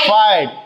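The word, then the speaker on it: fight: जैसे आप देखिए FIGST आया है ना, जीएसटी, तो इसको क्या पढ़ेंगे हम? फाइट। जीएच क्या रहेगा? हमेशा साइलेंट रहेगा।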